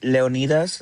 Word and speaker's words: Leonidas: Leon Leonidas like Leonitis.